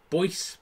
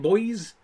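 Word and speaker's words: Boise: so bad about wigan boyce is that how you say it boys i've lived in boys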